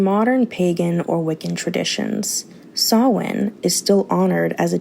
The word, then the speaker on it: Samhain: It is Samhain. Samhain is spelled Samhain.